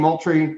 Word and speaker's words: Moultrie: Am I saying Moultrie wrong too, Jay? No, you got it. You got it, I think. All right. I didn't know if extra O in Moultrie or how that was.